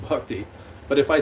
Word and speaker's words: Bhakti: It's because in the West, everybody hears it as Bhakti. But if you wanted to know the actual Sanskrit pronunciation, it's B-H-A, it's Bhakti. So actually that would be Bhakti.